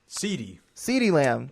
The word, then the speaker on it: CeeDee Lamb: His name rhymes with Meaty Bam. Meaty Bam. Yeah. CeeDee Lamb.